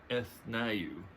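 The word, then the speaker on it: Ethniu: uh I not going I believe her it's pronounced eth NAU is her name and and she appears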